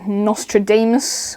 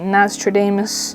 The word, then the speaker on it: Nastradamus: as I am and then we also have Nostradamus or nastradamus I believe that's how you pronounce it but yeah I'm sure most of